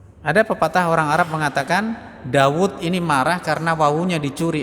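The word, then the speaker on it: داود: sukun jadi Mad thii jadi orang mengucap Daud meskipun tulisan wunya pendek enggak ada ww sukunnya tapi tetap membacanya Daud tapi Amr meskipun ada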